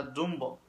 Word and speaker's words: Dumbo: Y se pronuncia dumb, que en español significa tonto. Entonces los del barrio no quisieron que su barrio se llamara tonto. Entonces le agregaron la O para que se pronunciara Dumbo.